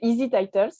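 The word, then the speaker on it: EZTitles: Donc, c'est Easy Titles. Ça s'écrit D'accord.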